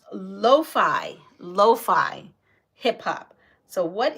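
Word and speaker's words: lo-fi: they're like can you put on Animal Crossings lofty I'm like what the heck is lofty okay so that's the question what is oh and it's not called lofty see I pronounced it lofty pronounce Loi Loi hip hop so what is Loi hip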